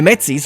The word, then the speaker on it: Métis: I don't know where that S is coming from. You know, the S after the T, I have no idea. The Métis right here are apparently how that is pronounced in Canadien, so in Franco-Canadian, in Quebecois.